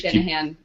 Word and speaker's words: Shanahanigans: And that's spelled like it sounds. Yeah. S-H-A-N. A-H-A-N. I-G-A-N-S.